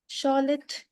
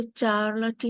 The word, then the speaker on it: Charlotte: उनका नेम जो है स्पेलिंग के हिसाब से नहीं है ना, तो उसको चार्लोटी मत बोलिएगा। This is शॉलेट Brontë.